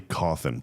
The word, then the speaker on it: Cauthen: Make the check out to Billy Coffin, please. C A U T H E N. We have to keep this. Possibly the easiest last name ever that always gets mispronounced.